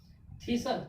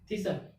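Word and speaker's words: thistle: ठीक है, थीसल। इसमें क्या है? एस के बाद क्या आ गया? टी आ गया।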